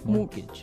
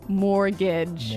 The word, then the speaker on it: mortgage: with a t yeah it has a t in it but you don't pronounce it you say mortgage morgage so not Mort mortgage not mortgage morgage morgage yeah I had